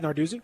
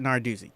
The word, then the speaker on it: Narduzzi: How you pronounce his name? Oh, Pat Narduzzi? Yeah, Pat Narduzzi.